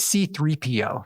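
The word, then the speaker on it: C-3PO: Anyway, I think like a 10-year-old kid on like the fourth or fifth time raised his hand and said, "It's C3PO."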